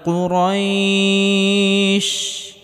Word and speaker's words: قريش: লি ইলাফি কুরাইশ, কফটিকে মোটা করে উচ্চারণ করতে হবে।